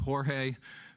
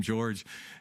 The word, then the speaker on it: Jorge: His name should have been pronounced Jorge. I asked George, why do you ask everybody to pronounce your name George? The answer was so that everybody will mispronounce my name the same way.